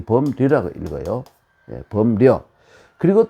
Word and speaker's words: 범려: 이 범려라고 읽어요.